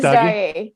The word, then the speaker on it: Messdaghi: Messdaghi. Very close. Messdaghi. Messdaghi.